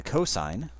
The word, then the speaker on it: cosine: The cosine, that's generally written cos, like this, but we would pronounce it cosine, is the adjacent side divided by the hypotenuse.